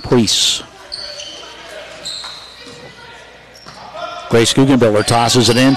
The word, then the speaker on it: Pries: The Priest girls spell their name P-R-I-E-S, pronounced Priest.